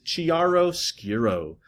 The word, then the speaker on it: chiaroscuro: The proper pronunciation is chiaroscuro.